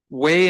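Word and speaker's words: Waugh: Okay, ladies and gentlemen, that audit committee was Way and Goodwin LLP. They're based out of El Paso County, and that's spelled W-A-U-G-H, Way and Goodman LLP.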